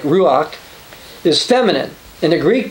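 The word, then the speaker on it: רוח: Now, when we talk about the Holy Spirit, I should point out that the Hebrew word for spirit, which we would pronounce somewhere like ruach, is feminine.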